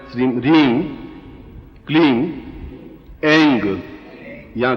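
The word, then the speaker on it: ऐं: अब हुम इसमें म आया है और श्रीम, रीम, क्लीम इसमें म आया, केवल एक जगह ग आया है, एंग। ठीक है, उच्चारण समझ गया? एंग, एम नहीं बोल सकते, एंग।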